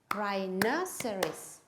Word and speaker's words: rhinoceros: o u s rhinoceros how many syllables are there rhinoceries four syllables where is the stress right now series on the second syllable let's clap the word